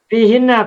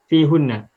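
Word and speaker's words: فيهن: Semula bacanya hunna. Lalu karena diawali oleh huruf jar yang diikuti oleh ya sukun, fi ya sukun, maka hunna menjadi hinna. Mafhum. Ya. Tidak bisa menjadi fi hunna.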